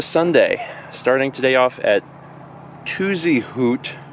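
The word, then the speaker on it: Tuzigoot: starting today off at tuzy hoot even though it's it looks like it's spelled tuzy Goot National Park and it's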